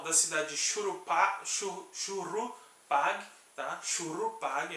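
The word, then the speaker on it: Shuruppak: Shurupag, era assim que pronunciava, uma das cidades antediluvianas, ou seja, uma cidade que existia antes do dilúvio.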